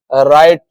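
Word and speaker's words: write: उच्चारण व होता है अब है साइलेंट डब्ल्यू कभी-कभी डब्ल्यू क्या है साइलेंट भी हो जाता है गाइस जैसे इसके एग्जांपल्स हैं राइट रॉन्ग रेस्ट अब इन तीनों वर्ड्स में यह क्या है डब्ल्यू से स्टार्ट तो हो रहे हैं लेकिन इनका उच्चारण र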